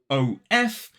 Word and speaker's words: of: is the fact that that f is pronounced V so even though the word is written o f it is pronounced of now I go into